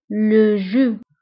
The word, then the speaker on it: le jus: العصير لو جو le jus. هنا ايضا بالنسبه لو جو كنكتبوها باس في اخر الكلمه ولكن لا تنطق le jus.